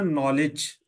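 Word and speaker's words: knowledge: silent है अच्छा जैसे व कहते है ना नॉलेज क्या डब्लू उसके अंदर पढ़ा जाता है नहीं के नहीं प नॉलेज में के नहीं पढ़ा जाता भाई अ के नहीं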